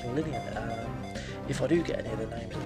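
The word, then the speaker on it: Linoone: evolve it into its overall form, which is pronounced Linnean.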